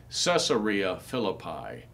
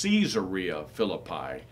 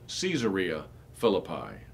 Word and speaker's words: Caesarea Philippi: times people will say caesarea philippi it is caesarea philippi it is named after caesar so we wouldn't say julius cesar we would say julius caesar so the proper pronunciation actually is caesarea philippi a city named in